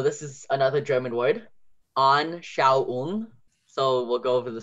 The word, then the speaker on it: Anschauung: That au sound is A-U. So whenever you au, like au, I'm hurt in a sense, it's A-U. So whenever you hear that, it's au. And then the ung ending is common.